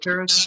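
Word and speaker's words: Perras: They phonetically spelled the city of Paris as P-E-R-R-A-S and pronounced it as Paris.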